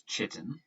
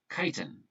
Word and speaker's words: chitin: this word here as chitin that is not the way you pronounce it it's pronounced chitin like flying a kite kite in glycogen is